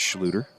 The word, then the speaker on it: Schluter: jeremy schluter number four i was saying schleider it's schluter i apologize for that everybody still 15 to 14.